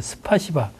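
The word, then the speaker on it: спасибо: 스파시바. 원래는 이 스파시바가 예. 우리가 듣기에는 욕같이 들리잖아요.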